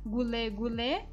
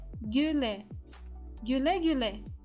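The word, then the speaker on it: güle güle: i então a gente não vai falar golê golê que é errado mas vamos falar Guiné Guile Guile como referência em baixo novamente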